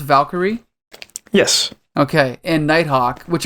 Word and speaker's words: Valkyrie: Is it pronounced Valkyrie?